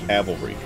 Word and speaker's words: cavalry: is where he's here calvary is where jesus died on the cross cavalry is what you know the point to play the trumpet that faces off things hello hey that was fun